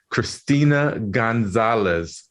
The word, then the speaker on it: Cristina Gonzalez: And I'd like to welcome our very special guest all the way from Mexico, Christina Gonzalez.